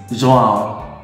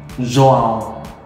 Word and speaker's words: João: In Portuguese, oh, this is difficult because of the nasal pronunciation. It's João. João. João.